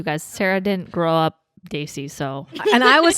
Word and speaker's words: Desi: It's so they, like the word they, and then see.